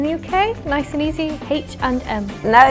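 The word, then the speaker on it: H&M: is like it's not like this you should pronounce it H and M if you pronounce it like fully English that's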